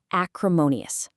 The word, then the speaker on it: acrimonious: On the right, we have acrimonious, pronounced acrimonious.